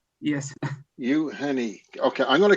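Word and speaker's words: Євгеній: Yes, but actually it's on Ukrainian, it's like U Yevgeny start with Y.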